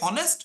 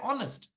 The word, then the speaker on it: honest: connection with the spelling you type h o n s t do you say honest or do you say honest do you say how